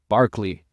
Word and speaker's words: Berkeley: Berkeley is how you pronounce it.